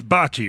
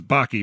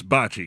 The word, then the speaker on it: Bocce: me yeah absolutely uh first off H it's Bachi right I always I always mispronounce it as baky but it's Bachi correct it is Bachi to the best of